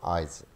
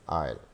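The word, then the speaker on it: aisle: So that is नॉट आइजल, that is आयल, आयल, आयल।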